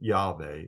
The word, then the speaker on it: Yahweh: This being the case, I believe that it is appropriate to pronounce the sacred name of God, Yahweh, especially when reading the scriptures, praying, or in worship.